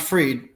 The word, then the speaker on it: Fried: Nikki Fried is, Her name's pronounced Freed. Looks like fried.